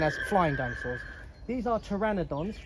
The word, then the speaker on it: Pteranodon: flying dinosaurs these are pteranodons amazingly you don't spell that with the t you spell it with a p now pteranodons are some